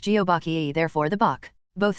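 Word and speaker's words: 거북: plus turtle or aach turtle in Korean is pronounced geobach therefore the bach both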